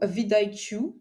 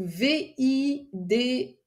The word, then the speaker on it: vidIQ: Moi, j'utilisais beaucoup vidIQ, donc VIDIQ. Alors, je voulais prononcer à l'anglaise vidIQ, vidIQ, voilà, en français.